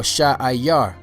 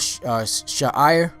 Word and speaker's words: Seir: All right, the next name that you should know is Seir or Sha'ayar. Sha'ayar. You know, there's sometimes it's spelled Sha'ir, but in most places I saw it spelled Sha'ayar. Sha'ayar.